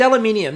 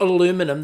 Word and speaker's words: aluminium: never trust american pronunciations because it's aluminium not aluminum they've dropped letters and it's a pergola